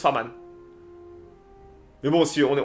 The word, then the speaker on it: Farman: Farman? Ou c'est moi qui prononce mal? Mais en fait, je l'ai jamais entendu en nom. J'ai toujours lu. On le prononce à la française, donc Farman.